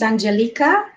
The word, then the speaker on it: Angelica: is i my pronunciation my name pronunciation is angelica i like to keep that because it's romanian uh but it's spelt like angelica so yeah i apologize